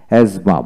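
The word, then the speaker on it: asthma: এজমা হাঁপানি রোগ, এখানে এস টি এইচ এম এ, এজমা, মাঝখানে টিএইচ উচ্চারিত হয় না।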